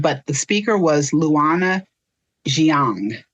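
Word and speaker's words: Jiang: I don't want to mispronounce it, but the speaker was Lana Xiang.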